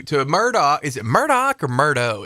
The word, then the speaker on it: Murdaugh: Is it Murdoch or Murdo? It's spelled like Murdo. They're saying Murdoch. I know. That's all the documentaries I've watched. That's how they pronounce it.